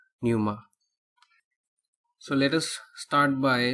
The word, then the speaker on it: Pneuma: Oklahoma by tool and the song is called Numa so let us start by looking at the song title meaning Numa so it is pronounced as naughty Numa but Numa Numa is an ancient Greek word